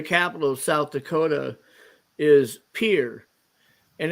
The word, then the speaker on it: Pierre: French pronunciation would be Pierre right right but it's pronounced like uh the little thing you walk out on onto a lake and not a dock but a pier right um they pronounce